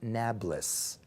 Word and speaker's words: Nablus: By the way, Arabs can't pronounce P, so they call it Nablus.